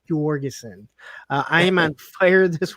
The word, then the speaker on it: Jorgensen: Their poor kid is going to be going around pronouncing their name wrong, thinking that it's Jorgensen. No, it's Jorgensen.